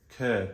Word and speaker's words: Chur: driving from Basel and we are heading to occur but it's pronounced it's spelled c-h-u-r and so still in